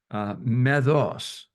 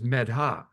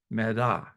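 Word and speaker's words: मेधा: But then there's also a Sanskrit word that is pronounced medos. And no, the Sanskrit word, I'm sorry, is medha, meda.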